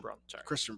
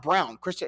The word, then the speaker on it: Christian Braun: i think it's baseball i think it's pronounced brown christian it's weird it spells like that yeah it's pronounced brown christian brown casuals always say broad i'm not i've refused